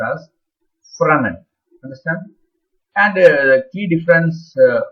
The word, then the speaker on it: Fresnel: It is written as Fresnel, but pronounced as Fresnel.